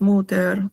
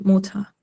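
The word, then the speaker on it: Mutter: Bueno, cuando términa n se pronuncia como una, o sea, muta. No, no es muter, es muta.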